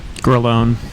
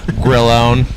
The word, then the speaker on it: Grillone: Is that how you say it? Grillone. Grillone. Grilled cheese. Grillone. Grillone. What is that? What is that? Yeah. It is Italian.